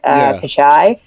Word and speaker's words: Pichai: Pichai.